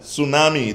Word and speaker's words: tsunami: lesson mr marvin andal tsunami the t is silent honest the h is